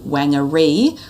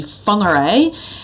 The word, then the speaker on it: Whangarei: So the key mistake here is that Māori use the WH is pronounced actually as an F sound.